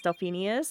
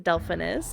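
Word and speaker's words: Delphinus: yeah honestly I think pronouncing it wrong as delphinius is a lot easier for me to say than Delphin is I'm not going to lie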